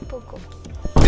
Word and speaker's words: bulgogi: No, it's bulgogi.